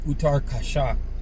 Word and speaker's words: Uttarkashi: It's called Uttarkashi. I guess that's the pronunciation in English.